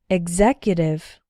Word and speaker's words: executive: Exactly, example, exam, exhibit, exotic, exult, executive. You can see that in these words, the X is pronounced like gz, exactly, executive.